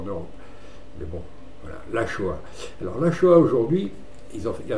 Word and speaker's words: Axoa: Alors la Shoah au Pays Basque, c'est un émincé de veau, ça s'écrit Axoa, mais ça se prononce à Shoah.